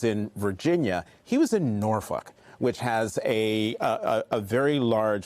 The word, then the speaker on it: Norfolk: He was in Norfolk, which has a very large veteran population, but also African-American population. That's how you pronounce it.